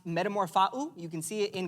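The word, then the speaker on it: μεταμορφόω: The Greek word for transformed is pronounced metamorphou.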